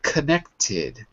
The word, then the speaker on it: connected: For example, connected. We need to hear the ID at the end.